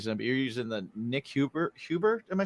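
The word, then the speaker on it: Nik Huber: But then I saw that like you were using, I don't know if you're still using it, but you're using the Nick Huber.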